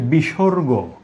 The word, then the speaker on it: বিসর্গ: আমি পরবর্তী বর্ণে যাচ্ছি, যে সেটি হলো এটি এটির শুদ্ধ উচ্চারণ হচ্ছে বিসর্গ।